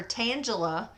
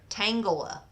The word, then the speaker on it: Tangela: I've been calling her Tangela, but she says it's like tangled hair. Tangela.